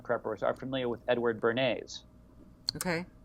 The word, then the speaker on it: Bernays: So I'm sure that your prepper audience, your reluctant preppers, are familiar with Edward Bernays. Okay. Like Bernays sauce? No. It's spelled differently. It's Bernays. Sorry.